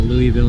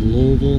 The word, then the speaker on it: Louisville: But you get beat up if you call it Louisville. It's actually called Louisville. You got to pretend like you have rocks in your mouth or uh or you're not saying it right.